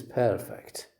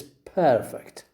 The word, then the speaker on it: perfect: perfect it is perfect you you stress the first syllable you put a stress on the first syllable okay but when you say to perfect something to perfect something you stress the second syllable what do what do